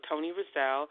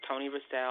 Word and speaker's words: Toni Racell: So Toni Racell. I want it to be identifiable for people who really knew me. So it's Toni Racell. Like you think of Duracell battery.